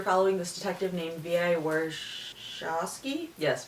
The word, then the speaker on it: Warshawski: Warshawski, yes, Warshawski. Sorry I had to look at my notes to see how to pronounce that.